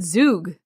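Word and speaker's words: Zugg: I would say Zug, because it's Z-U-G-G.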